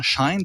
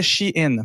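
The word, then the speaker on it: Shein: qui s'appelle she in que j'ai appelé longtemps Shine parce que ça s'écrit en un mot c'est in c'est je je meis fait dire que c'était ch in mais bon est-ce que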